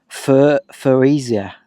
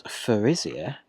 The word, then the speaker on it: Thurisaz: So what does Thurisaz mean? That's not it. Alright. Thurisaz. That was the back of it. So the pronunciation is TH.